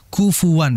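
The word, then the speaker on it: كفوا: saja dimasukkanamak yaamakahufuan Ahad kufuan hati-hati ketika membaca kufuan dijelaskan Kaf Fa dan wnya kufuan karena memang di dalam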